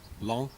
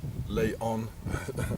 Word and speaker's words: Laon: the school of long long they don't pronounce the oath it is not leon it's long and this is a